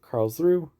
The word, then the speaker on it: Karlsruhe: Next we have Karlsruhe, which I finally figured out how to pronounce correctly.